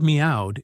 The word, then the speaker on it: meowed: The word meowed is tricky with me pronounced like me and o like blending as in cow with a final d.